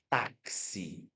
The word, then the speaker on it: táxi: É o X com som de KS. Por exemplo, eu falo a palavra, eu escrevo a palavra táxi, né?